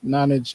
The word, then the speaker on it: Nonage: And then most social medias, we are just at excuse me, at Nonage Games, and Nonage is spelled Nonage. Basically like non-age is how I think of it.